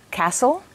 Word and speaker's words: castle: Some words have a silent letter T. For example, castle, whistle, listen.